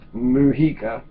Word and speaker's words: Mujica: It's a J. It looks like Mujica, right?